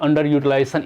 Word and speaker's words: under-utilization: At sixth position, the word under-utilization is accented on the sixth syllable, syllable sixth.